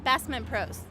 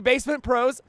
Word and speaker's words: Basement Prose: Basement Pros. Excellent. Basement Pros, indie ski pop. Yeah. Ski bum pop band. It's actually Basement Prose. I know some of the Basement Prose guy.